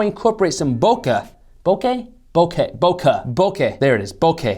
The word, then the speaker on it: bokeh: videos and photos and how I incorporate some bokeh.